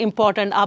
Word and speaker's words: important: tone the intonation of a voice is extremely important it's also melodious it's like music language is